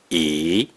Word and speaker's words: 一: word or a character, which is the fourth tone or the neutral tone, the number 1 is pronounced E.